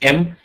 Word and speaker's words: em: EM is pronounced as M.